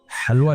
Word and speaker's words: हलवा: हलवा लिखा जाता है ह से। लेकिन पढ़ा कैसे जाएगा? हलवा।